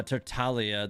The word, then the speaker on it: Tartaglia: makes sense and also tartaglia is pronounced uh tertalia the g is silent well even doesn't even he say tartaglia though like doesn't even